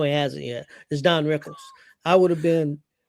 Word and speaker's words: Rickles: Rickles. Don Rickles. Not Rinkles.